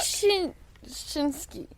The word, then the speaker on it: Ptaschinski: Tischinski. I think the P is silent.